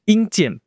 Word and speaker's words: Ying Jian: And then when you spell it together in English, right, the pinyin, when you put it together, the G and the J, it just mess up with people who, especially they don't Chinese, right?